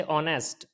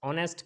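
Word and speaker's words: honest: है इस तरीके से ऑनेस्ट ऑनेस्ट के अंदर भी क्या है ओ से पहले ह आया है तो ये साइलेंट हो जाएगा इसकी आवाज़ नहीं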